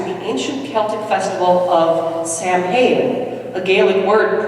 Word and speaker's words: Samhain: date back to the ancient Celtic festival of Samhain a Gaelic word pronounced sour the Celts lived 2,000 years ago mostly in